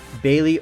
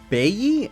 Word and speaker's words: Bailly: Eric Bailey, or Bailly, I believe. Bailly. Please, you guys know how terrible I am at pronouncing, but I think it's Bailly.